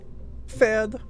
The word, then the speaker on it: Pferd: Pferd. Yeah, the P is silent. We call that ein silent letter.